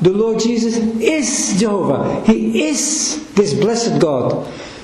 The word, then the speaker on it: Jehovah: Some have made like Jehovah, but that's an artificial form that's based on the way the Jews read Adonai. They use the same vowels to pronounce Jehovah that way.